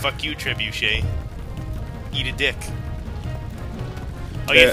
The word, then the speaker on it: trebuchet: teacher that used to call trebuchet truet truet and like like seriously would like it wasn't like a it wasn't a mispronunciation the sun it's not it wasn't a mispronunciation for the sake of Comedy it was just they were mispronouncing it and they a [